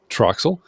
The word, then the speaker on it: TRXL: podcast to the host called Trel am I pronouncing it correctly yeah that's it Troxel and uh you can find Troxel and arase